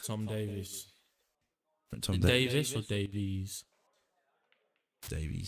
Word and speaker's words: Davies: Tom Davis or Davies? Davies. My name is pronounced Davis. We got the E in it.